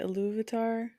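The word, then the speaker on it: Ilúvatar: Or Iluvatar, is that how you say it? Iluvatar?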